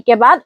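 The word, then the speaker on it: cubo: यहां भी शी के बाद ओ है इसलिए का होगी।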